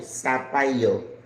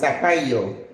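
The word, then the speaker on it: zapallo: we call it uh zapio. Zapio. I think I saw zapio. Sapio. Sapayo. Sapayo. The Z is pronounced like an S. I know. Gre, are you watching so that you're my students? Sapayo.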